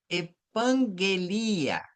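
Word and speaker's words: ἐπαγγελία: Porque este primeiro gama é nasalizado, luego és como um ni oestro, oh, por exemplo, estan, né? Então, epan estan epanguelia epanguelia epenguilato.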